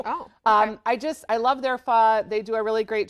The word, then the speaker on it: pho: And it's spelled like pho. So if you go to a restaurant, it's P-H-O. Oh, yep. It's pho, though.